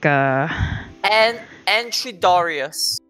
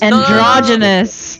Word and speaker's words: androgynous: So it's like Entridorius. I think Entridorius. Yeah, ambidextrous is androgynous.